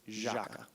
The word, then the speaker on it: Jâca: But the official pronunciation is Jâca.